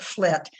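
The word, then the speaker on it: FLT3: flight flight 3 and they they pronounce it flit but terry and i pronounced it flight because that was more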